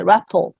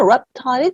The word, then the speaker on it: reptile: 예, 거기 써 있는 대로 지도하는 대로 읽으면 이제 raptal 뭐 이렇게 발음이 될 거예요. 요 발음도 틀리진 않아요. raptal이라고도 하는데 실제로는 reptile이 조금 더 많습니다.